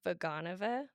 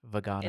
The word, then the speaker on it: Vaganova: of times what makes this first of all pronounce it for me again okay it's vaganova vaganova it's the aka the Russian method okay which